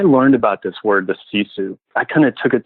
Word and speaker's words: sisu: There's a word that I learned from Top Gear a few years back, and it's a Finnish term, and it's pronounced sisu, S-I-S-U.